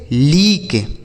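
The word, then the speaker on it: leak: एल ई ए के, इसे पढ़ेंगे लीक, एल ई ए के लीक।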